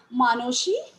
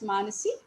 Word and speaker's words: Manasi: Among his 50 and odd volumes of poetry are Bhanusimo Thakurer Padoboli, I am pronouncing it as the Bengalis do, Manoshi, that is Manasi, Sonatori, Sonartari, Gitanjali, Gitamolo, and Balok.